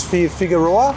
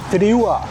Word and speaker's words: Fideuà: Figueroa? What is it called? Fideuà. Fideuà. Let us know who pronounces better.